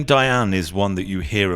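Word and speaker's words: Dayan: However, with the Ashkanazi pronunciation, Diane and not Dian. When we made Aliyah to Israel, we converted it to the pronunciation prevalent here, which is Dian.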